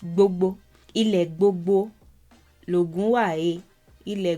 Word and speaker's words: gbogbo: In the rendition, it was something along the lines of Ile bobo. Again, gbogbo became bobo because the B letter became harder to pronounce as the decades went by. So it's gbogbo.